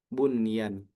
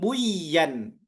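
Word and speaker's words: بنيان: Bunyan bukan kita katakan buyan, melainkan bunyan.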